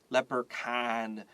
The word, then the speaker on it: leprechaun: 这个 R-E 你可以圈起来，注意到这个 C-H 发 K like Chris. And then you have A-U-N, leprechaun. You don't hear the U, and so I wrote a little X over the U.